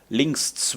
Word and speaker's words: links: Let's pronounce it in proper German lings, which is translated to